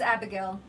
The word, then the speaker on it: Abigail: Yes, it's Abigail. But it's pronounced in Spanish Abigail.